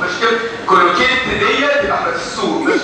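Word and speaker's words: Cloquet: الليمف نود بتاع الخواجة واحد خواجة اسمه كولوكي بقى عليه فرنساوي من تي لا تنطق مش كده كولوكي ديت تبقى في السوق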